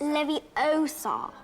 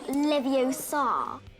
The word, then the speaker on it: Leviosa: waving a wand about you're saying it wrong it's ly Oar not Levar the comedic scene helps